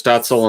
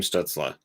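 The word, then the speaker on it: Stützle: that pronunciation everybody does it was stutzel and then all of a sudden it became stutzla okay and i was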